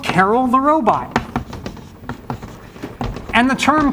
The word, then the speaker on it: Karel: named after Carol and some people say Carl which is kind of actually closer do I believe it